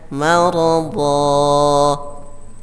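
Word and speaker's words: مرضا: Ya, contohnya maradon dibaca maradha.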